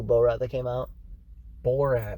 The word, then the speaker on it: Borat: rat that came out borat not beauregard sorry bull right so you gotta you gotta say it right because i keep up